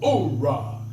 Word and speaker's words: oorah: They said, oh-rah. They left off the H.